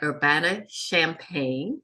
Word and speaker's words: Urbana-Champaign: She is an associate professor of sociology at the University of Illinois at Urbana-Champaign, pronounced like the drink.